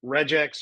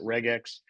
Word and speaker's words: regex: Okay, regular expressions are reax or some people pronounce it regex.